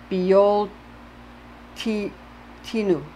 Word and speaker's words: Bealtaine: gaelic word Beltane pronounced be old t tinu approx rhyming with winter feel to know when